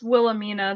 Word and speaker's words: Wilhelmina: It's Wilhelmina. The Wilhelmina. H is silent.